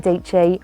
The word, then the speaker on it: Dietschy: theory ali abdull sarah dietschy rhymes with peachy and one of my